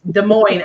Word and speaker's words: Des Moines: How to pronounce it. You don't say the S in both words. Yeah, it's Des Moines, Iowa, not Des Yep.